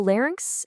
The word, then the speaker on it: larynx: So, the larynx, and this one is pronounced larynx, is pretty much your body's own built-in music studio.